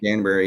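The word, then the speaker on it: Danbury: Connecticut is that how you say it Danberry Danberry yep Danberry um that's not too far from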